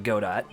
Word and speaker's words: Godot: Godot. Also, I know his name is pronounced Godot, I just pronounce it Godot because I like it better that way.